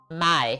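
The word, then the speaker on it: Maille: My? Is that how you say it? Or is it Mael? My, yeah.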